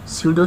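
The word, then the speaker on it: pseudo: मैं आपको बताना भूल गया कि जो अमॉर्फस सॉलिड है उसे हम स्यूडो सॉलिड कहते हैं। यहाँ पे जो पी है वो साइलेंट है, ठीक है।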